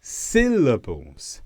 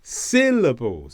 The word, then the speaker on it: syllables: syllable is stressed and in this word it's the first bit syllables syllables it's louder it's longer it's got a higher tone how do we know